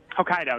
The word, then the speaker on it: Hokkaido: Before you go, real quick, how do you pronounce this region? Is it Hokkaido? Hokkaido, yes.